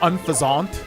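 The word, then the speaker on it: Unfezant: Point is, I don't know if unfasant, he pronounces it unfaszant, which is weird to me because it's like a pheasant, right? So, wouldn't it be like unfasant?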